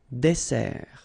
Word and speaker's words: dessert: So, remember that we've got here two S. Okay? That's the reason why you pronounce it S. And then it opens the Dessert. un dessert. So you don't say un dessert, okay? But you say un dessert. Final T not pronounced.